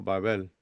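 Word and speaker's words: בבל: si nosotros queremos pronunciar esa palabra hebrea, se pronuncia como Babel.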